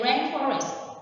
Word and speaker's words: rainforest: But when you say rainforest, it's on the rain.